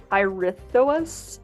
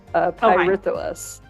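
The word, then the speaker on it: Pirithous: This is Pyrithous, I think is how you say his name, and this is Ixion's son, Pyrithous.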